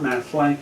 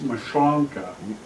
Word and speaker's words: Maslanka: And it's not Maslanka, it's Maschlonka. That's that's the correct pronunciation.